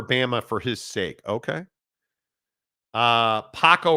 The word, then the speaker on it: Paco: Paco rhymes with taco.